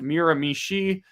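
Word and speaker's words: Miramichi: If somehow time went the opposite direction, but firing here says for $6.99, Miramishi is pronounced Miramishi. Stress on the last syllable.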